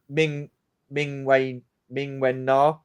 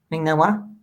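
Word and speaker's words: Ming-Na Wen: I guess Ming Wen Na, if that's how you pronounce her name. Ming Na Wa? Ming Na Wa, yeah.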